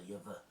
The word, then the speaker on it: Jahwe: En dan, as jy dit uitprobeer spreek, dan klink dit so Jewe. En dit is dan eintlik die Hebreëse uitspraak. In plaas van Jahwe is Jewe.